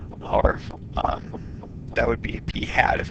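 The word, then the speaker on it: p̂: equal to 31 and this is pronounced P hat it's got a little hat on it all right if we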